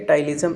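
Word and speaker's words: ptyalism: एक अपना बात करने वाले टाइलिज्म, यहाँ पर पी साइलेंट है, टाइलिज्म, इसको बोलते हैं साइलोरिया।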